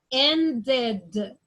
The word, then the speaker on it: ended: I'm gonna say it like, needed, ed, ended, decided. So in these 2 cases, I say the ed or the D like ed.